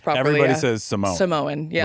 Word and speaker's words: Samoan: Samoan. Yeah, Right. like the cookies. Yeah. We need to get that out there, okay? For everybody That's listening, true. it's Samoan. Yeah, Samoan. Samoan. Samoan.